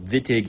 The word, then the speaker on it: Wittig: So being a German name, it has a V sound. So Wittig is the way to pronounce this.